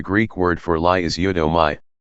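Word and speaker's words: ψεύδομαι: word, and the Greek word for lie is eudomai, pronounced siodomai, and means to utter an untruth or attempt to deceive by falsehood, yea, knowingly and deliberately spreading mendacities.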